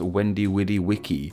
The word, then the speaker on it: Veni Vidi Vici: E.g., the famous Julius Caesar quote, Veni Vidi Vici, should actually be pronounced Wendy Widdy Wiki. It's also argued there was no soft C sound either, hence why Vici here is pronounced with a hard K sound, and why others believe